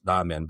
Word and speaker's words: ramen: We like ramen a lot. You're going to hear me pronounce this a couple of different ways.